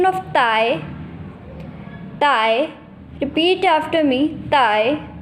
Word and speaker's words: dai: Has a pronunciation of Thai, Thai.